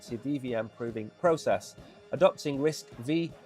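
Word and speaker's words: RISC-V: Adopting risk v pronounced risk five. I prefer risky uh an open- source processing architecture com uh compatible to its propriety competitors like ARM and x86.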